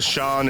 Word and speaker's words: Sean: And the Sean is spelled like S-E-A-E, S-E-A-N, scene.